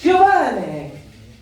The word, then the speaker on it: Giovanni: So, yeah, he said my name wrong, by the way. It is actually pronounced Giovanni.